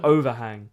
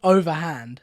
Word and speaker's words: overhand: I said overhang. What actually is it? Overhand. It's overhand.